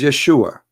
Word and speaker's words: Yeshua: The correct word in the Hebrew is Yeshua.